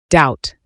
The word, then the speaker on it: doubt: Doubt, pronounced doubt.